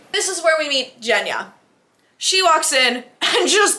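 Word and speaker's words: Genya: open it there's Gia the pronunciation of this word is sounds like jna this is where we meet Jenna she walks in and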